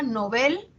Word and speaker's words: novel: dar frío ya dice Está muy extendida la pronunciación llana a pesar de de que se recomienda novel se extiende su uso como llana es decir como grave Nobel no incluso entre personas